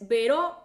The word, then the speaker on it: Veró: No encontraste mi página que, ok, ahí te va, te lo voy a repetir, es Vero con acento en la O, Vero con acento en